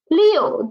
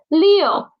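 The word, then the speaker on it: 六: Leo. Leo. Leo. Leo. Leo. The initial is L and the final is you. Please don't pronounce the initial as okay. It's not N. Don't use your nose. It's L.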